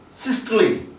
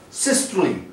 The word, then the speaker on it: systole: pressure, like systolic, diastolic, and systole, not systole. This word is systole, and here E which has occurred at the end of a word, it is giving its sound E, systole.